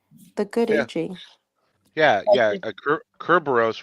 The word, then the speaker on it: Kerberos: Kerberos, which is the Greek pronunciation, literally means spotted.